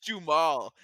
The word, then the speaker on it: Duhamel: Josh Duhamel. I'm gonna say that. Josh Duhamel.